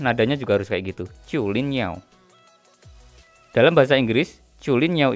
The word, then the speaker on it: Zhulinniao: Yang pertama di pojok kiri atas ini dibacanya Chulin Niao. Chulin Niao. Ini nama brandnya. Kalau di AliExpress ditulisnya Zulin Niao. Bacanya yang bener Chulin Niao. Aksennya juga harus kayak gitu, Chulin Niao.